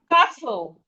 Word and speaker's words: castle: We have castle. Castle. Castle. The T in castle is silent.